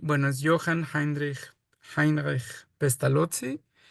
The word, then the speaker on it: Pestalozzi: y por eso e el apellido suena pestalotzi, pero nadie más que los italianos lo pronuncian así, pestalotzi, eh como pizza.